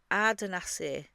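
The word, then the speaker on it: Ardanaiseig: And it's pronounced Ardencaple even though it's got a G on the end, and it's a category B listed Scottish baronial mansion.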